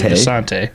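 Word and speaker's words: Visanthe: I thought there was a TH. It is. I think it's pronounced officially Visante. Visante, okay. But it looks like Visanth. Yeah.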